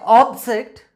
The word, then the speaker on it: object: role as a noun when it plays its role as in noun the first syllable is always stressed there so how should i read that word ops object so stress is given on op for syllable when the same word is playing its role as involved straight changes from first syllable to second syllable for example object object